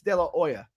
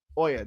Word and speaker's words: De La Hoya: After De La Hoya won the gold medal, he said it's De La Hoya. Ooya. The H is silent.